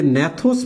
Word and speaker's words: gnathos: তো দেখো, এই যে ন্যাথোস মানে হচ্ছে চোয়াল, GNATHOS, ন্যাথোস বানানটা কিন্তু জি দ্বারা শুরু হয়।